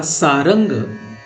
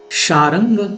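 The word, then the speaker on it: शार्ङ्ग: उच्चारण इसका चारंग या सारंग के रूप में भी किया जाता है, परंतु उचित शब्द शारंग ही है।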